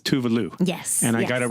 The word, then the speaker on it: Tove Lo: out of the way the correct pronunciation name is tuvalu yes and I got